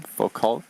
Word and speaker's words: Foucault: Foucault, am I pronouncing it correctly? Yeah, Foucault pendulum.